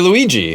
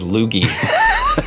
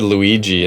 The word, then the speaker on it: Luigi: meet Mario's famous brother Luigi, who we all know now. What's funny is, since I was younger and didn't have all my pronunciations figured out, I thought his name was Lugi.